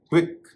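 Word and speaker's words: quick: क्विक व उच्चारण हो रहा है।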